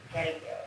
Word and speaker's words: Galiao: No, it's Galiao, it's Portuguese. Like how you say Ronaldo.